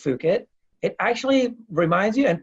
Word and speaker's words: Fukitt: itself because even though it is pronounced fook it it actually reminds you